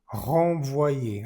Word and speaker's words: renvoyer: Pour le renvoyer. Aquí tenemos nuevamente una vocal nasal y es la vocal nasal que está en verde. Renvoyer, en. Nuevamente la en, siempre se pronuncia igual, en.